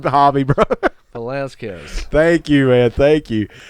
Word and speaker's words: Velasquez: I can't pronounce his name. Oh my God, I'm not. We have the wrong hobby, bro. Velasquez.